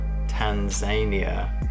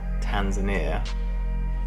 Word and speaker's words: Tanzania: then we're flying to depending on where you're from Tanzania or Tanzania I think the British say Tanzania but the South Africans Americans say Tanzania um which is a